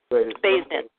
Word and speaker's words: Baysden: How do you say your last name? Baysden. Yeah.